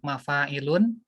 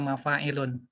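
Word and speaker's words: مَفَاعِلُ: Ya, isim nakiroh yang wazannya mafa'ilun, yaitu tidak dibaca mafa'ilun. Ya, jamak mafa'ilun, tapi dibacanya mafa'ilu.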